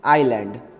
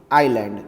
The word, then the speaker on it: island: like this the pronunciation the correct pronunciation for this word is island not is land or neither is land nor Iceland correct it is and